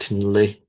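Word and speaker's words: Tiníléí: In Navajo, it's called Tinlay. That's how you pronounce it.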